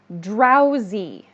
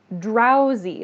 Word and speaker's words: drowsy: I hear some students say this one's hard to pronounce. Drowsy. Drowsy. This is D-R-O-W-S-Y.